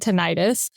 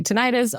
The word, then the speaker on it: tinnitus: You might notice that I said tinnitus. A lot of people say tinnitus or tinnitus. Its pronunciation is acceptable either way, kind of like tomato, tomato.